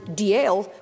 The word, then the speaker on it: Dalziel: dalbiti spelled cargonzion and Diel which is spelled dalziel these are all currently